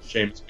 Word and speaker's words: Seamus: I want to say that's the perhaps the Seamus McNally or Soymus McNally grand prize. Yeah, Seamus McNally. Seamus McNally. That's how I would pronounce it. Yeah. That's how I've always pronounced it.